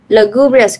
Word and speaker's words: lugubrious: Lugubrious cũng nhấn bằng 2 nè.